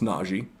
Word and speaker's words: Najee: a blank on his name but they brought najee and it's actually pronounced naji i have learned that as well they brought